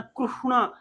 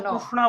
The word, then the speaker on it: कृष्ण: इस तरह बोलते हैं आपको उच्चारण सही रखना चाहिए इस प्रकार से लोग आ ग ना कृष्णा है ना डििया में कृष्णा बोलते है कृष्ण बोलिए जी ऐसे कल मारना चाहिए